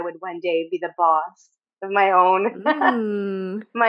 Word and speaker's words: Bosse: So it's pronounced bos. Yeah. And you had a response to that with the the bos. Yeah. Yeah. Yeah. My whole childhood I would cringe every time my name was called. I would wish it wasn't called because they always mispronounced it. They always said bossy.